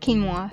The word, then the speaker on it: quinoa: I mean, spelled with a Q, but it's pronounced quinoa.